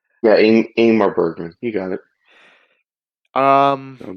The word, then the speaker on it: Ingmar Bergman: So, my friend, are you ready to jump into Igmar Bergman? I'm pronouncing that correctly. Stop me if I'm not, right? Yeah, Ingmar Bergman.